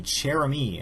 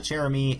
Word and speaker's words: Chère-amie: uh the gun being the cheramy I believe that's how you pronounce it is a French name but uh the cherem is a unique malaan